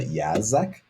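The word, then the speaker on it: Yaszek: Lisa Yazek, I believe is how you pronounce it.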